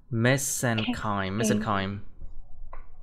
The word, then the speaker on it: mesenchyme: CH đọc là âm K nha. CH here is pronounced like a K. Mesenchyme.